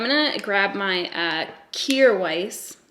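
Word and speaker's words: Kjaer Weis: to grab my uh cure Weiss that's how it's pronounced it says it on their Instagram I'm going to grab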